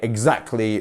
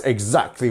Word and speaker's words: exactly: we pronounce this one where is our stress syllable exactly it's in our second syllable isn't it so it's the Z bit here we have our two dots exactly exactly exactly so you can actually